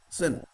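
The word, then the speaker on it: осень: Of course, it is spelt as Osin, but here O is always almost silent. Sin.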